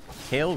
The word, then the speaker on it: Kayle: scale I gotta scale kale rhymes with scale yeah what's scarier a